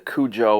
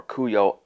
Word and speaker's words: Kujo: what we think of the Kujo or Cuyo depending on who you talk to how it's pronounced and then what do I like between all these after testing for a long time.